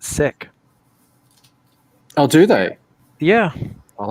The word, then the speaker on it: Sikh: discovered from my Punjabi friends is that they pronounce it sick.